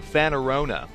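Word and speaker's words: Fanorona: Anyways, Fanarona, that's how you say it, also returns from previous games.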